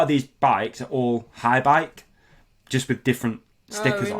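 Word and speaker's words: Haibike: So then there's a woman, a German lady, who was one of the head honchos at High Bike. That's how you say it, isn't it? HAI, High Bike.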